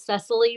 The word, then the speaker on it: Cecily: to give some feedback my name is Cecily by the way it's pronounced necessity no problem no worries